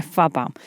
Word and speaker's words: PFAPA: a hablar del síndrome fapa que se escribe pfapa en realidad Porque son el acrónimo